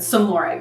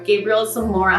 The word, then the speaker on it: Gabriel Zamora: I said Zamora. Gabriel Zamora.